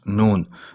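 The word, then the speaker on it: نون: letter this is pronounced noon noon is used to express the sound uh like n sound or an sound in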